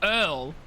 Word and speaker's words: Urgle: My name is Urgle. The G is silent. Oh, it's Earl.